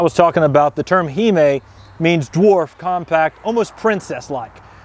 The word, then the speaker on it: hime: Now, it is pronounced hime. You'll see that as a reoccurring term with a lot of the dwarfer Japanese maples that are dwarfier. It's a term you'll see a lot. It should be pronounced hime. Some people will pronounce that hime. Typically, the vowel sounds in the middle of Romaji are a softer sound, so it's just a tip for saying these.